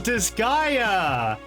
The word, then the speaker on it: Disgaea: Let's see what's going on with Oh, Disgaea! That's how you pronounce it, okay.